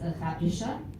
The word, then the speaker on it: Hrabriša: It is Little Ray One, and in Serbian it is pronounced Hrabriša.